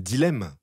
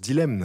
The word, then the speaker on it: dilemme: Mais c'est comme c'est comme dilemme que tout le monde prononce. Dilemne.